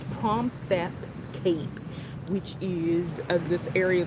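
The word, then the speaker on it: Phromthep: It's Promthep Cape, which is this area.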